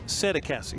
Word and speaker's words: Sassie: name and he says it's just exactly the way it looks sassie sassie you pronounce it all all right I